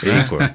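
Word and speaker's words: Achor: aror ele fala que ou da pronúncia correta sh sh aror acor é isso é que nem Austin is Ok eh ele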